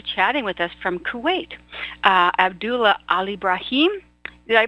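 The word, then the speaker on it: Abdullah Alebraheem: tonight is actually chatting with us from Kuwait abdullah al ibrahim did i pronounce it right did i get it yes dr.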